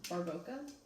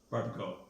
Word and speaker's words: Barbacoa: Just like don't know how to pronounce this one, but Los Calientes Yep. Barboca. Barbacoa.